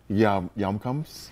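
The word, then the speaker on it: Hjemkomst: Farmers Market at, I can never say that the Yumkumst. Yumkumst? Yeah, there's a lot of silent letters. HJ, that's just a silent. Thanks, Norway. Yeah, thanks, Norway.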